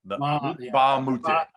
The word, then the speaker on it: Mbah a Moute: a camp, and Luc Mbah a Moute. The M is silent. Mbah a Moute.